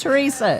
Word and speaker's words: Teresa: Is it some kind of Tiki Man Radio code that everybody has to pronounce my name with an H? It's Teresa.